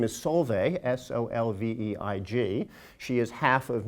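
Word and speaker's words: Solveig: my wife's name is Solvay s-o-l-v-e-i-g she is half of Norwegian Heritage the g at the end is silent if you are not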